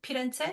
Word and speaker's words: Firenze: So I'll just pronounce it for you. Firenze, okay.